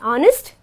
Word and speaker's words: honest: like honest and R where H becomes silent and we pronounce it as honest and R okay we